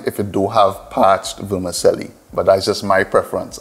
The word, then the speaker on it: vermicelli: is parch in the vermicelli we say vermicelli but the actual pronunciation is vermicelli it is italian this is a pasta